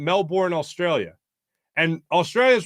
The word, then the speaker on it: Melbourne: selling he was saying Melbourne Australia and Australia is like it's Melbourne it's pronounced Melbourne Melbourne and it's like and